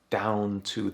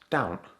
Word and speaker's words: down't: In Yorkshire we tend to drop off a lot of letters in our words so for example down to the becomes down't...